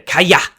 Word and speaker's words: Calla: sharper a sound and kala's spanish in our world i'm just glad that i don't struggle with the kaya pronunciation because otherwise i would